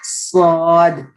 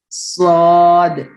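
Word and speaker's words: ص: It has a whistling sound, but not sharp as that of seen. Seen also has a whistling sound, but here you are pronouncing, it's a clear S sound, like seen, snake sound, right? But here in swad, there is a you can say the whistling sound, but it's not sharp like seen.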